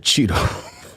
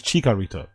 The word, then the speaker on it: Chicharito: You said Cheeto. Chicharito. Oh, there's... Yeah, you said it wrong. You know what I mean? He's still incapable of admitting he's wrong. You did it wrong. You said Chitorito.